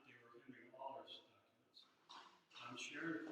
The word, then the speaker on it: Auler: And I chased down Shirley Maddox to get the correct pronunciation of Henry's last name, which she says is Auler, not Auler.